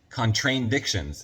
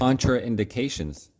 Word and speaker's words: contraindications: No, but it's spelled like contrain. Contradictions. It has TR anyways, guys. Contraindications.